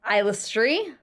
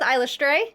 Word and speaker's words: Eilistraee: Apparently her name is pronounced Eilistraee. Eilistraee? Yeah, but I'm going to go with Eilistraee because apparently it's an accepted pronunciation and I'm going with it.